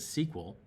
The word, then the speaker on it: SQL: For example, SQL, structured query language, usually pronounced as SQL, is used in most relational databases to pull selected information.